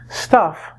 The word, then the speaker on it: stuff: Stuff, if you do the pronunciation, kind of rhymes with tough and bluff.